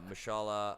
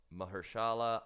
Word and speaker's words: Mahershala: Mashallah, I always say his name wrong. Mahershala Ali. Mahershala Ali. Mahershala. Yes. God damn.